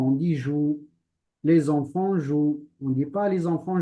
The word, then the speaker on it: jouent: prend on dit pas jouant on dit joue les enfants jouent on dit pas les enfants jouant on ne prononce pas le e t on dit les enfants